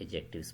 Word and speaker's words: adjective: अब नेक्स्ट हम आते हैं एडजेक्टिव्स पर। ठीक है, एक तो आपने ये करना है कि इसको बोलना कैसे है, एडजेक्टिव्स यानी एडजेक्टिव नहीं बोलना, डी इसमें साइलेंट है, एडजेक्टिव।